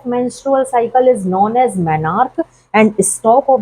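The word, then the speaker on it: menarche: तो सबसे पहली वाली मेंुअल साइकिल जब स्टार्ट होती है इस ऐज में 10 से 12 साल में तो उसे हम प्रोनाउंस करते हैं मैनार्क।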